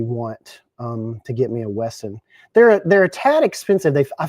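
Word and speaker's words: WESN: W-E-S-N? You just say Wesson? Is that how you pronounce it? I'm telling you, I've had my eye on Wesson for a long time.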